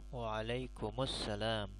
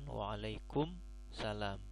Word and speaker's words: Waalaikumussalam: Jadi ketika menjawab salam, baiknya adalah dengan diwasalkan Waalaikumussalam, bukan Waalaikumsalam.